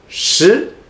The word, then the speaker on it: 食: How to pronounce it? 食, second tone.